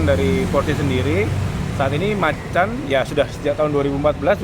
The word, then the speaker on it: Macan: Tapi kadang dari mereka itu pelafalannya yang masih kayak pekan gitu kan. Kita sambil mengedukasi bahwa yang sebenarnya ya Macan.